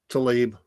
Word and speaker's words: Tlaib: It's off Fox, but the squad member Rashida Tlaib, however you say her name, is it Tlaib? Tlaib.